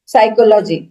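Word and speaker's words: psychology: जैसे बोला जाता है कि नॉलेज, साइकोलॉजी, ये सारे में पी, साइकोलॉजी में पी है ही नहीं, नॉलेज में के है ही नहीं।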